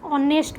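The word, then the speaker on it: honest: तो नेक्स्ट लिखाई कौन ना डैश ऑनेस्ट मैन एच रे स्टार्ट हुए कि आमर उच्चारण रे कौन हुए ना ऑनेस्ट मैन कौन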